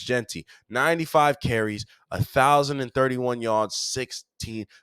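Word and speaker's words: Jeanty: It's not GT. It is spelled that way, but it's Genty.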